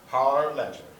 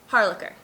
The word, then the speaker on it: Harlacher: Harlacher. Harlacher. Harlacher. Yes. Straight through. Yes. Okay. Don't put an extra syllable in there.